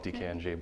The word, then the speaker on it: DKNG: this is awesome so we're dkng which stands for initials it's basically me dan colgan nathan goldman pretty simple don't try to pronounce it as a word so it's a